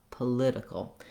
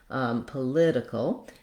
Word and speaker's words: political: Political. That's because the lid syllable is stressed. It has the clear vowel and the length. Political.